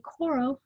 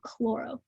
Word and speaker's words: choro: about a choropleth map make sure you use the correct pronunciation say choro not chloro chloro is the root word for pale green like in chlorophyll while chloro is the root word for location it's a pet peeve